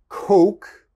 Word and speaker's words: coke: are you saying shitty the next word coke coke like coca-cola coke uh you want to say coke but a lot of my students say you don't you never want to say that's very bad because is slang in english for the penis okay so you never never want to say that's very embarrassing to whoever you're speaking to if you say you only want to say coke coke the next word is